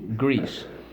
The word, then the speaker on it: grease: G, r, e, s. Silent e, grease.